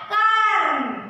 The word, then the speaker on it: कर्म: तो क के बाद हम क्या करते हैं, र का उच्चारण करते हैं, उच्चारण कीजिए कर्म। तो पहले र उच्चारण करते हैं, बाद में क्या करते हैं, म को कहते हैं कर्म।